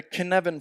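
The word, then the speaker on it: Cynefin: there's something called the kin Evan framework now this is Celtic so of course the fact that it's pronounced kin evan has got nothing to do with how it's spelt I recommend that you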